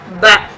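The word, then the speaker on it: ب: The point of articulation of Ba is bringing lips together, joining lips together actually for the letter Ba.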